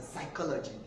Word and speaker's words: psychology: Most people will question this pronunciation, that why should this be pronounced as a psychology when the first letter is the P. The P is actually silent in the pronunciation of psychology.